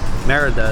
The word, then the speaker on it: Mérida: So if you come to Merida, Merida is how it's pronounced. Merida. Merida.